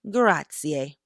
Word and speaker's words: grazie: So to say thank you in Italian, you say grazie. And I can't roll my R's, y'all, but you kind of roll your R a little bit, but I can't roll it. My rolled R sound like I can't do it.